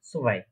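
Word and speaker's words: zwei: নিচের দিকে ব্যাকা করবেন, তারপর প্রোনাউন্সিয়েশনটা করবেন সোভাই, সোভাই।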